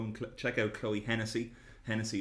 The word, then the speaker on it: Hennessy: check out Chloe Hennessey Hennessey is spelled like the stage Tennessee but with at 8 at the start and said yeah let